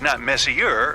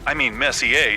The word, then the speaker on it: Messier: m43 well young lady the m stands for Messier pronounce Messier not Messier as in is your room messier than mine Charles Messier I mean Messier to be precise was a French astronomer in